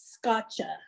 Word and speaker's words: scacce: My mother made this scotcha, and I always asked her, how do you spell it?